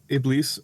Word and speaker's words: Iblis: And so, I'm sorry, how did you pronounce it? It was better than mine, obviously. It's Iblis. Iblis?